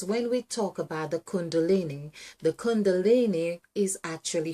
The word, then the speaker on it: Kundalini: So we do CUN, which really rhymes with CON, with a lot of the snakes, for instance. So DALINI.